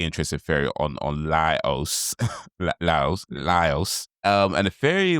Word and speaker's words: Laios: You're messing the eye up. It's La La Lios. Lios. Lios. Lios. Um, we I saw another interesting. Well, I saw a interested theory on on Lios Lios Lios.